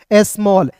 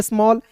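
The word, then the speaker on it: small: लिखते हैं और ए डबल एल दोस्तों तो इसका उच्चारण ऑल के रूप में करेंगे तो क्या होगा दोस्तों स्मॉल एस एम A double L स्मॉल हो गया ना जी स्मॉल फिर देखिए यहां पे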